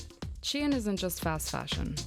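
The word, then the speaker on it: Shein: report in your DMs shine is how I tend to pronounce it chin isn't just fast fashion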